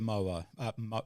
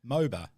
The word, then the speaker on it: MOBA: So different games, totally different to the MOA. Is it Mo? How do you say that there, Rockets? MOBA? MOBA, that's it, yeah.